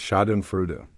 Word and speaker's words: schadenfreude: It's shinu, a German word that literally means harm, joy.